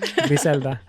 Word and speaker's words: Griselda: Did you guys watch Griselda? We haven't watched it yet. Did I say it right? I said it like the rap group, but I should say it more Hispanic. Griselda.